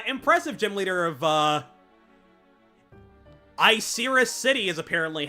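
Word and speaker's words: Icirrus City: Uh, impressive gym leader of uh, Iserus City is apparently how it's pronounced, which I don't love, but h I'll deal with it.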